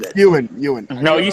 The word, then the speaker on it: Ewan: I probably butchered it. Ewan. No, you said it right. You said it right. No, it's Ewan.